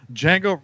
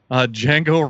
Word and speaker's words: Django: if you're googling weird the D is silent David what were your